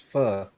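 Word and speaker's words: phở: I think them them restaurants called like fo and be like a ramen spot. F. It's pronounced fur. I got I got in trouble for that. It's fur. That ph is f.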